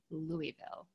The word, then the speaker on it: Louisville: a little self-conscious but when i wish to be understood by those who do not live in the region i usually pronounce it louisville and nobody bats and i where i say louisville and they go so